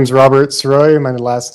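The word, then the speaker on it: Srois: the record yes sir my name is Robert soy my last name is spelled s r o i s what is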